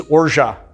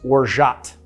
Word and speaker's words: orgeat: on top of me the pronunciation in French is Ora that's how it's pronounced the t is silent in the US you would I guess pronounce orat with the T so